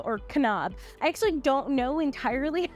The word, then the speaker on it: Kanab: it's in this little itty bitty town called Kanab or Kanab I actually don't know entirely how to say